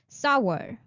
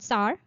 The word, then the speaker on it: sour: Let's start our pronunciation practice of this class. The first word of today is sour. Sour. It's not sour, it's sour.